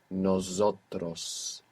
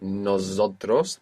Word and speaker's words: nosotros: Most English speakers find themselves accidentally saying nosotros with a Z. Not nosotros, but nosotros. It's an S.